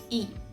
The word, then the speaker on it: y: which means and and we are pronouncing it e okay e ami amigo lewis